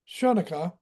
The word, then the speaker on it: Chanukah: It should be Hanukkah. It's spelled c h but Hanukkah that uh mirrors any res- aspect of the carnival tradition.